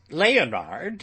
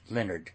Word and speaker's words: Leonard: Leonard and Paul were two friends. "Pronounce it Leonard, child," cried the parson.